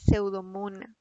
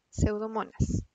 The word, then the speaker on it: Pseudomonas: como lo ven ahí se escribe pseudomonas con s al final no es pseudo mundo porque es una le pongo pseudo mundano el nombre correcto es pseudomonas su taxonomía esta bacteria